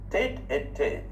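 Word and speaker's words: tête-à-tête: In the pronunciation, rendezvous is a secret meeting between two persons at a particular time or place. Tete-a-tete, tete-a-tete, T-E-T-E-E-T-E-T, tete-a-tete is a warm, friendly, informal chat.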